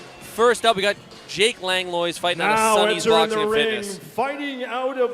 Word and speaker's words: Langlois: with Jake's last name Langlois pronounce Lewis on that I would have thought